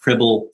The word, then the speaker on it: Cribl: You pronounced Cribl correctly.